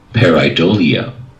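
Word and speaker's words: pareidolia: ambiguous visual pattern okay now here's how it's pronounced peridolia okay let's listen to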